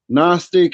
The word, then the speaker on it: Gnostic: For one, Gnostic is the G is silent.